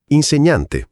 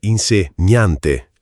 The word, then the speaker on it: insegnante: Professione impiegato impiegato non impiegato impiegato insegnante insegnante. Non insegnante.